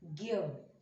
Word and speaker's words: ज्ञ: यह संयुक्त अक्षर ज्ञ, उसका उच्चारण बच्चों ऐसे है ज्ञ।